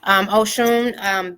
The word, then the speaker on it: Osun: In Yoruba, the S makes a sh sound. So that's how you can read a little bit. Have you noticed when they salute the priest and it's Abaru, Aboye, Aboshishe, that there's no H in the middle of the Aboshishe? That it's just the in the alphabet, the S makes the sh sound.